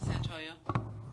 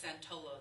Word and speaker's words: Santoyo: how do you say your last name? Santoyo. Santoyo. Yeah. Everybody says Santollo, though.